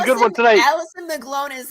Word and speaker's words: McGlone: Yeah, McGlone.